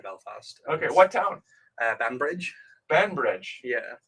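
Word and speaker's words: Banbridge: up just outside Belfast okay what town uh bambridge bambridge yeah how do you spell that b-a-n and then Bridge band Bridge um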